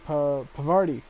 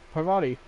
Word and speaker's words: Parvati: Pavardi.